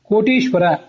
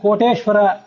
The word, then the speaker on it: ಕೋಟೀಶ್ವರ: ಲಿಂಗ ರೂಪದಿಂದ ದರ್ಶನ ಕೊಟ್ಟಿದ್ದರಿಂದ ಕೋಟೀಶ್ವರ ಇದನ್ನ ಇದನ್ನ ತಪ್ಪಾಗಿ ಕೋಟೇಶ್ವರ ಅಂತ ಹೇಳ್ತಾರೆ ಕೋಟಿ ಪ್ಲಸ್ ಈಶ್ವರ ಇದು ಕೋಟೀಶ್ವರ ಅಂತ ಹೀಗೆ ಅದನ್ನ ಉಚ್ಚಾರ ಮಾಡಬೇಕು ಇರೋದು ಒಂದು ಲಿಂಗ ದೊಡ್ಡ